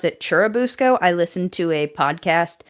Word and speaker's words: Churubusco: So if I say it wrong, I'm sorry, but it is Cherabusco. That is the correct pronunciation.